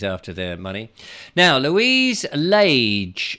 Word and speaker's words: Lage: We pronounce our surname like Page, except with an L, of course.